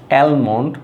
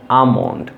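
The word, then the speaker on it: almond: যেমন অনেকে বলবেন হচ্ছে অ্যালমন্ড, অনেকে বলবেন অলমন্ড, অনেকে বলবেন অ্যামন্ড। সো আসলে এই তিনটার কোনোটা এটার প্রোনাউন্সিয়েশন না, এটার এক্স্যাক্ট প্রোনাউন্সিয়েশন হচ্ছে আমন্ড।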